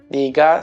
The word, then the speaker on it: 네가: 네가, c'est no, tu, avec la particule de sujet, ça s'écrit 내가, mais ça se dit généralement 네가.